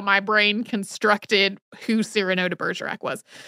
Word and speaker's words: Cyrano: I didn't pronounce it that way at all, though. I didn't in the episode because it's Cyrano.